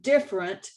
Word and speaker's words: different: The word different has 3 syllables, but we in Texas pronounce it with 2 syllables, like different.